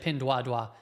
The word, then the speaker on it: Pinduoduo: Pinduoduo is the proper pronunciation. I think people say Pinduoduo or something like that, but that's actually not how it's pronounced. And if somebody speaks the language, that could confirm that. But I originally heard it from an analyst from China, and they said pin dua dua.